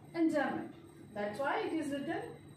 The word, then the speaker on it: enjambment: M is silent here, it is enjambment.